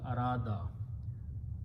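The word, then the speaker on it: أراد: Af'ala, Vav will be pronounced as alif, so it becomes Arada.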